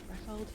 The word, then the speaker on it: Rafeld: Rafeld?